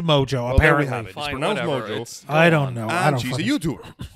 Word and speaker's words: Mongeau: a YouTube celebrity by the name of Tana mojo that's it yeah apparently that's how you pronounce her last name it is spelled mo n GE au so I'm thinking macho or Mon Joe or whatever so but I'm drew what I'm